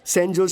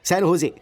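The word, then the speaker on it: San José: Oh sorry sorry sorry sorry sorry, सैन होजे, SANJOSC। इसकी spelling यही है ना, लेकिन इसमें जे साइलेंट रहता है, इसलिए इसे सैन होजे बोलते हैं।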